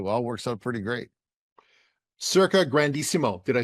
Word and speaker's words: Circa Grandissimo: Circa Grandissimo.